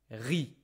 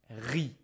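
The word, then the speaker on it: riz: Rice in French is re. Careful, we don't pronounce the z re.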